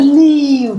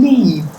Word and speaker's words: leave: world then I say leave this world right if you don't want to live in this world leave this world so live and leave are different in this word this